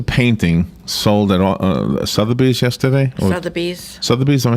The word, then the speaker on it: Sotheby's: Sotheby's, am I saying it right?